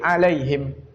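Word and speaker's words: عليهم: Di sini ada kata alaihim, jar majrur dari kata ala, kemudian disambung dengan hak dhamir hum, tapi kemudian cara bacanya jadi alaihim. Ala sama hum jadinya alaihim.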